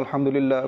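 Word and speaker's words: الحمد لله: বলার চেষ্টা করি এখানে যখন কোন দোয়াতে বড় হা চলে আসে তো এখানে ভুল এভাবে হয়ে থাকে কেউ গোল হা এটা অনেকে উচ্চারণ করে অনেকে আলহামদুলিল্লাহ এভাবে পাঠ করে থাকে যেটা ভুল তো আমাদেরকে হাটা রয়েছে বড় হাত্তি বলা হয় তো ওই হা দিয়ে আলহামদুলিল্লাহি আমরা পাঠ করব তো এখানে কিছু টানও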